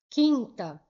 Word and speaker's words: quinta: Se eu falo quinta, quinta, eu não falo quinta, falo quinta. Então, eu não pronunciei o U.